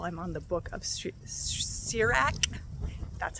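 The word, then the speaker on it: Sirach: the yearly Bible I'm on the book of sirak that's how you pronounce it and I actually that book kind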